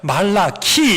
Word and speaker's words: 말라기: 그런데 사실 이 말라기는요, 이제 그 발음대로 하자면 말라키 이렇게 읽어야 될 겁니다.